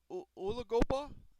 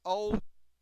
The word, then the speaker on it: Ozigbo: Also, Divine U- U- Ulagoba. I'm trying to say his name. It's a hard name to pronounce. It's Ozigbo. He's going to be the third string.